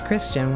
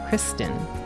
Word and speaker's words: Christin: Admittedly, I have mispronounced Adol's name as Christian when it's, Christin.